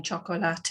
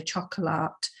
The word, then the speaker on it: chocolate: French or um they they don't pronounce the e in Spanish so rather than saying chocolate they just say chocolate or chocolate and they're using English pronunciation then it's hard to change